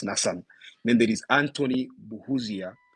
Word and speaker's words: Nassan: The others include Ndahura Gafayo William, there's Kiza Nassan, it's spelled Nassan, I thought it was Nathan, but then I asked and they said it's Nassan.